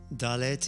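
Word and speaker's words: דלת: Dalet is pronounced as a D and is Delta in Greek.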